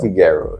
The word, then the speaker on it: Figuero: So anyway, my special guest, Antonio Figarero. Yay. That sounds so good phonetically. Antonio Figaro. Figarero.